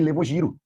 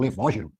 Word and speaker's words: levógiro: Esse que desvia a luz polarizada para a esquerda, a gente chama de levogiro, ou levógiro. E o que desvia para a direita, estrogiro, ou destrógiro, sei lá como é que você prefere pronunciar isso.